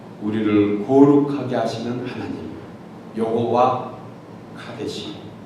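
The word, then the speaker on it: קדוש: 좀 전에 말씀드린 것처럼 카데시, 이 말은 본래 히브리 단어입니다. 히브리 단어로 카도시 이렇게도 발음하기도 합니다.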